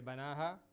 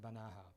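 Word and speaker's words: بناها: alif and just say banaha? No, when you have an alif coming like this, it's a long vowel, you pronounce it normally. Okay? You would pronounce it banaha, fully.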